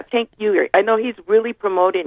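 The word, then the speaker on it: Cenk Uygur: can't say his name way sank yuger is really promoting this his name is chank chank chank yeah chank yuger I know he's really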